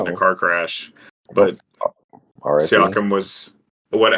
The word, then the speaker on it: Siakam: But Siakam was what?